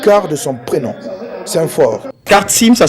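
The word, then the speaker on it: Kartsym: Kartsim, ça s'écrit avec un K-A-R-T-S-Y-M.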